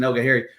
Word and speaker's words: Elgahari: Very difficultly pronounced name. The spelling, we've got more vowels in his last name than I've ever seen before, but I believe I got that right. I asked him.